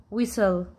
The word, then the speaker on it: whistle: i uh while what is whisper this T is silent whistle white because this magic e change the vowel